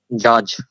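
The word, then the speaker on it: judge: যদি বলি এটার উচ্চারণ কি বলেন তো জাজ জাজ ডির উচ্চারণ হইছে এদেরকে বলা হয় সাইলেন্ট ডি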